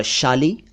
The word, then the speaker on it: शाली: तो साली अलग और शाली अलग।